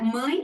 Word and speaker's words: mãe: It's M-A-E, my. Like in English, we pronounce my, M-Y. Yeah, mãe. Yeah, the sound is mãe.